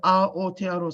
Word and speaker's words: Aotearoa: So what you can see there is actually our syllables in our language are all broken up with vowels. So wherever there's a vowel, usually wherever there's a vowel, that's the end of a syllable.